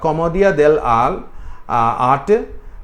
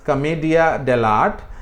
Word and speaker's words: Commedia dell'arte: One is Commedia dell'arte. We also pronounce it as Commedia dell'arte.